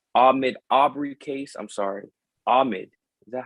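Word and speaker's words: Ahmaud: but um uh ahmed aubry case i'm sorry ahmed is that how you say his name ahmad there we go ahmad aubry that case is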